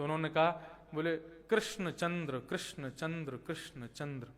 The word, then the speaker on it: कृष्ण: नाना जी का नाम कृष्ण लाल शास्त्री लेकिन सब गांव आदि सब जगह आधार कार्ड तक में उनका नाम किशन लाल क्योंकि कृष्ण शब्द उच्चारण थोड़ा सा क्लिष्ट होता है।